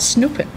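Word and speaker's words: snoepen: eat candy it's called snooping Snoop it's not to Snoop like English Snoop but snooping to eat candy and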